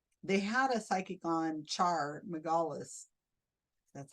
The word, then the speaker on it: Char Margolis: Well, they had a psychic on, Char Margolis, that's how you say her name, about 12 years ago.